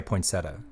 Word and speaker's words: poinsettia: I never pronounce it correct. I always say ponetta or or yeah or something. I don't think anyone says poinsettia. I think it's just we say a poinsetta.